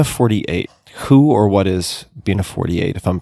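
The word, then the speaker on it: Bina48: nonlinear fashion Bea 48 who or what is beina 48 if I'm pronouncing that correctly y you've you've got it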